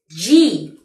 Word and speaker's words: G: ¿Cómo acordarme de que la J se pronuncia J y no confundirla con la G, que es G?